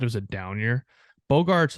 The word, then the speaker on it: Bogaerts: Is that how they pronounce his name in Boston? Yeah, Bogaerts.